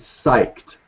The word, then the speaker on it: psyched: English baby yes so the way to pronounce that is psyched psych psyched psyched I'm so psyched uh another term that